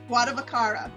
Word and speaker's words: Guardavaccaro: Guardavaccaro.